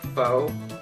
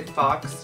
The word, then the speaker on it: faux: It's like faux, like faux hawk, but it's spelled F-A-U-X. So I always just say fox just because my brain works weird where I know that's not how you say it, but I always